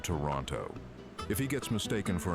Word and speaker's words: Toronto: He winces when people pronounce the second T in Toronto.